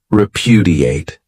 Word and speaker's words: repudiate: great verb is repudiate this verb has four syllables and the stress is on that second syllable repudiate this means to reject something